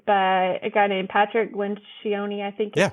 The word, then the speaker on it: Lencioni: I think the best book on hiring that I've read is by a guy named Patrick Lencioni.